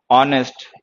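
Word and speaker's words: honest: खैर, लेकिन इन सारे वर्ड्स में एच जो है वो साइलेंट लेटर है, प्रोनाउंस नहीं होता।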